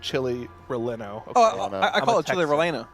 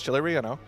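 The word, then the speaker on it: chile relleno: That's the That's just the double L in in Spanish is is a Y sound.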